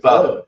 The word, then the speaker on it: pho: I thought he said pho. It did say pho. It's pronounced pho.